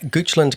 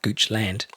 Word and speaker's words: Goochland: What else do we know about Goochland, which I just found out is pronounced Goochland, not Goochland, like I pronounced it at the top?